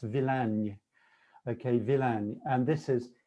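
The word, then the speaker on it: Villány: only time to highlight one it looks like villainy which is an amusing word in english but i've been practicing sue if you're listening tonight stu tolson it's pronounced villain okay villain and this is in the south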